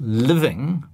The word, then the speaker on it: living: But it's living in New Zealand.